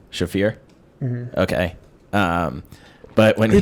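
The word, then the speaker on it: Shaffir: It's like Ari Shakur. Do you know who that is, the comedian? Yeah, you definitely didn't say his name right, but yeah. What is it, Ari what? Shafir?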